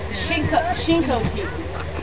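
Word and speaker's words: Chincoteague: It's Shinko Teague. Shinko Teague. Shinko and then Teague, like baseball league.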